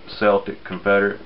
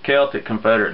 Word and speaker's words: Celtic Confederate: Celtic Confederate decom some people some people pronounce it Celtic Confederate but they've been watching basketball too much Boston fans up there